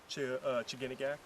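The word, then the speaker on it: Chiginagak: How do you pronounce that? Chiganagak.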